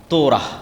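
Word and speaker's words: Torah: তোরাহ বলে ইহুদিরা উচ্চারণ করে যে তোরা যখন তাওরাত দেওয়া হলো তখন এই তাওরাত যেন তারা মানে এজন্য তুর পাহাড়।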